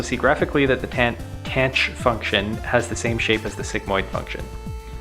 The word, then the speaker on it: tanh: Perhaps the simplest variation is the tanh pronounced tanch neuron which replaces the sigmoid function by the hyperbolic tangent function.